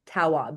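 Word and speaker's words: Tawwab: Yeah, it's um Nidra ne a Glover Taob and that's T A WWAB.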